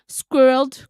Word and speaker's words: squirrel: Some suggested that squirreled could be included, but squirrel is intended to be pronounced as 2 syllables.